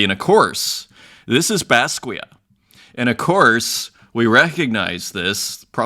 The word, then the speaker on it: Basquiat: And thank you to, I think it was August Ground, 3 months ago, fixing my pronunciation, what I was calling Basquiat. Maybe that's a North American pronunciation there, but Basquiat, famously, of course, in